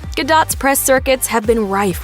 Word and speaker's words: Gadot: From having to clap back at body shamers to teaching everyone to pronounce her last name with a hard T, Gadot's press circuits have been rife with awkward exchanges.